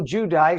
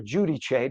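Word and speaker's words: Giudice: And finally, Joe Judy or Judy Chay, depending on the day of the week, they pronounce it both ways.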